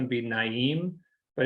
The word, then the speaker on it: Naeem: And it's a song, I think the pronunciation would be Naeem, but it's Naeem.